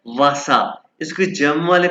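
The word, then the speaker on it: Wasser: और ये क्या है वासा इसके जम वाले प वासर इसको आप कहना वसा वसा वाटर वसा और ये मिल्क मिल्क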